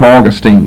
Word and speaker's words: Augustine: I going to do I call them both Augustine since that's the dictionary pronunciation of both but I just will